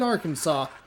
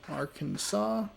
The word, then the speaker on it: Arkansas: be watching Dayton in Arkansas coming up next Arkansas why are you not pronounced AR Kansas the Flyers and the